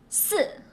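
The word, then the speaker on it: 四: It's S, as if I doesn't exist. Only pronounce S and voice it S and give a fourth tone.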